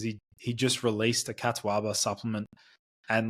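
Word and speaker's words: catuaba: for the past like five years it's called Kataba now it's spelled c a t uaba c a uaba um Kataba and I know people are going to say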